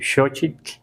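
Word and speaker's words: xochitl: Es muy suave la TL al final. Elot, tetokot met, o sea, no es no es no debe ser muy exagerado, no debe ser muy largo como algunos pronuncian nesa walcoy así como muy largo, no está bien dicho, aunque así lo digan muchos locutores, ¿verdad?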